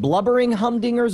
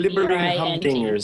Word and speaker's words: Blibbering Humdingers: So just so we have the spelling right, you said Blubbering Humdingers or Blubbering? No, Blubbering. It's spelled right there on the screen. Right. B-L-I-B-B. Blibbering Humdingers. Blibbering.